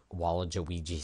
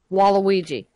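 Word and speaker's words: Waluigi: I was thinking of wall jigi Stadium yeah no that's not how you say it wall jigi wall Walla jigi Walla hang on a minute Wala IGI yeah well I just said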